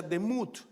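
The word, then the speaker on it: דמות: Semejanza es una palabra que quiere decir se se pronuncia demut. La palabra demut.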